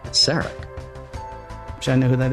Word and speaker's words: Sarek: This week, I hope I'm pronouncing this right. Is it It's uh Seek. Is it um Sarak? No, Kenneth. It's Sak.